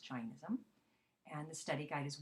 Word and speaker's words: Jainism: in America we say jism but really it's pronounced Jainism and the study guide as well and the